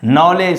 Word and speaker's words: knowledge: Knowledge. Silent letter is D.